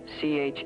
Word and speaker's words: Chiswick: This part of London is called Chiswick Mall. As you can see, it's spelled C-H-I-S-W-I-C-K, but they still call it Chiswick.